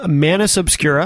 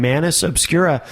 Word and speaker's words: Manus Obscura: Am I saying that correctly? It's pretty close. Pretty close? How do you say it? Just the same way. Oh, okay. Yeah. So so the way you say it's pretty close too. Yeah, it's not exactly the proper way to say it. Do you know what is? Not really. Oh, is it Latin? It is Latin.